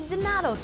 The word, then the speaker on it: Dinotto: No matter how you say it, there's no mistaking, Dinotto's has some of the best Italian food in Chicago. The food's amazing. It's Dinotto without the Chicago S.